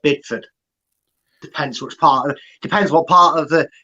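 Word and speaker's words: Bideford: North Devon in uh is it bidfood or bad food I would I think it's pronounced bidford depends what's part of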